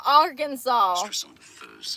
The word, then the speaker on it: Arkansas: Oh, it is pronounced Arkansas. Why is it spelled like that? That is not how you spell Arkansas.